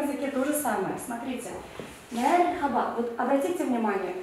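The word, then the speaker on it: merhaba: Мерхаба. Вот обратите внимание. H, то есть х, как в татарском языке хейкель произносится мягко. Х. Мерхаба. Не мархаба, а мерхаба.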